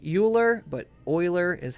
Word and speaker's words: Euler: was Euler okay it looks like Euler but Euler is how you pronounce that I believe it's German I would